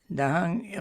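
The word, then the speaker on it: dahaṃ: Again, dahang must be pronounced as d, like dog, d.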